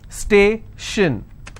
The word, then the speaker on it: station: Tion, again the same example. Station, so I will stress on stay.